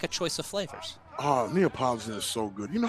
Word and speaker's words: Neapolitan: Oh, Neapolitan is so good. You know, I didn't know that how to pronounce that for the longest. I call it I used to call it Neapoleon.